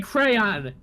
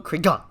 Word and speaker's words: crayon: you want me to no I'm saying crayon try it without accentuating the why like that though like you're going cron cron yeah because that's how it's spelled and that's how it's pronounced you're dropping letters What